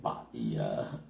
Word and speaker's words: Bahia: The H in Bahia is silent because it's fucking Spanish and they got a lot of silent words, kind of like English.